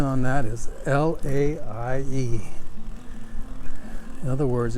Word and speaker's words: Laie: explore my hometown of laie and the spelling on that is l-a-i-e in other words every vowel is pronounced which is fairly typical in the hawaiian language our town of